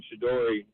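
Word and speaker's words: Shedeur: I think you're saying Shador Sanders' name wrong. Hope you find your dad. Thanks for Shadori Sanders. Shador. There's no Y at the end of it.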